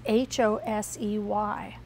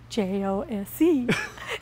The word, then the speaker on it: Jose: And it has Hosey on it. And his name is spelled? J-O-S-E.